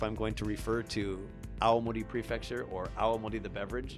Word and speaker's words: Awamori: our show the UQ alimony alimony aww am oh RI you have to be careful because if you if you don't pronounce it carefully people will think you're talking about all Modi Prefecture I actually I always